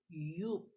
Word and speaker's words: Joop: This one, the name of the perfume is Joop, or in German they pronounce the J in Y. So this is Joop.